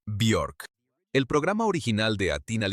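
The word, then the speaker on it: Björk: Además, la forma correcta de pronunciarlo de acuerdo con ella misma en una entrevista es Biork.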